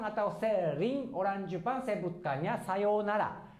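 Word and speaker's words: さようなら: Ini intonasinya biasa sayonara ya, sayonara ya, sayonara. Tapi mungkin kadang-kadang atau sering orang Jepang sebutkannya sayonara. Jadi kalau ini bukan u tapi o ya, tetapi tetap tulisannya sesuai yang ini ya, sayonara.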